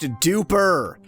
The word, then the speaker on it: Dupre: It's pronounced duper.